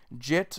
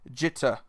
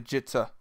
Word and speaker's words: Jitte: reality it's just a jitter there is like a slight pause in between the word there is emphasis on the e but it's not as much as most English speakers would put